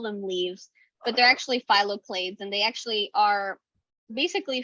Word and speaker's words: phylloclades: Oh, phyloclades, and so that is spelled PHYLLOCLADES. So phyloclades.